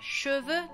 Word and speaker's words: cheveux: Por ejemplo, la palabra cheveux, tenemos cheveux. Che se pronuncia E porque esta E sin acento termina mi sílaba. Entonces sí tiene el sonido de E.